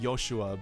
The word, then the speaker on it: Joshua: wrong I know that in Japanese it's pronounced Yoshua but like I don't